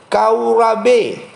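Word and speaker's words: חרב: menggunakan kata kau RAB kau rabe haarp bacanya kau RAB artinya kering Hai Nah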